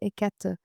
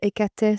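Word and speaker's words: Hécate: Et écat ou écatè, ça dépend comment on la prononce chez les Grecs.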